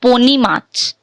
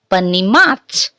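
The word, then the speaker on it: понимаешь: But we are going to pronounce not pony mach. We are going to pronounce pani mach.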